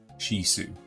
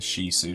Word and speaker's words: Shih Tzu: Shih Tzu spelled she, SHIHTZU. Shih Tzu. Because that's the proper way of pronouncing it. Shih Tzu, not Shih Tzu.